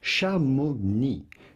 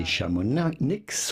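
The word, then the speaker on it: Chamonix: In French, this is pronounced shami. The X at the end is silent. So do not say shamonics or shamonics.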